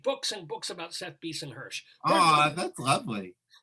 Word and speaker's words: Bisen-Hersh: I think, let me just read books and books about Seth Beeson-Hirsch. Oh, that's lovely. Am I getting your name pronounced correctly? Yeah, Beeson-Hirsch. That was correct that time.